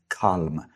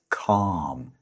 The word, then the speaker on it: calm: I have heard a lot of people say calm, but that is not correct. It's calm. The L is silent.